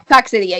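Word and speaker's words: Coccidia: Like, I'm going to say it wrong, so please correct me. Um, Cosidia. Coxidia. Yeah, close sorry.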